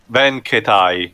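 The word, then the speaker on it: Ben Ketai: Well, how do you pronounce his name? Ben Katai? Ben Katai, yeah.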